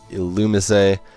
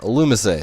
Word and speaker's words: Illumise: into the bug here illumise a yes it's only miss a I actually didn't know that pronunciation until I looked it up beforehand because I wasn't so sure but yeah illumise a so what's with the